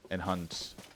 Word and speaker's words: enhance: The CE at the end is pronounced as S. Enhance.